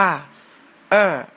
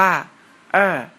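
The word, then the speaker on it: 二: เลข 2 เลข 2 ใน ภาษา จีน อ่าน ว่า เอ เลข 2 ภาษา จีน อ่าน ว่า เอ เรา มา ลอง เขียน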